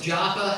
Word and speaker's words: Joppa: Pronounced both Joppa and Jaffa. In fact, it's pronounced three ways. Joppa, Jaffa, and Jaffa. They pronounce it all three ways in Israel.